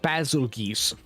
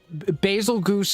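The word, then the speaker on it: Bazelgeuse: And yes, I know it's actually pronounced basil geese, but basil goose is much more funny.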